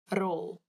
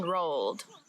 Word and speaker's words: rol: roll the the pen rolled this one is funny because roll roll all you have to do is roll your tongue on your mouth so it makes the r sound like before roll it's quite nice